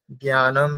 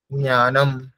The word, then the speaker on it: জ্ঞানম: নয় জ তারপরে ইয় এটার উচ্চারণ কেমন হবে জ্ঞানম যেটা আমরা বলি জ্ঞানম ঠিক আছে জ্ঞানম এটা